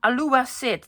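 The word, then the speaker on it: Alua Cid: My new mat that's um apparently from Alua Sid. This is a C, not a moon. And it's um pronounced with an S, not a K.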